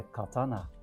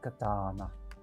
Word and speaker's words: katana: No, it's a katana. Not katana. So there is a Go ahead. Yeah. Katana.